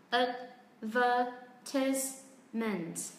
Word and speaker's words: advertisement: Và nếu như phát âm theo kiểu của giọng Anh thì trọng âm rơi vào âm tiết thứ 2.